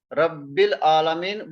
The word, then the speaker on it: Rabbil Alameen: You see here, Rabbil Alameen, we don't pronounce this alif.